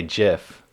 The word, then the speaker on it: GIF: gifts maybe some videos gifs or gifs oh man i don't know i think i usually say jiff i say that's a